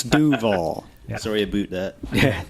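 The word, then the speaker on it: Duvall: Isn't it DeVale, Washington? No, Dave, that's a Canadian pronunciation. Yes. It's Duval.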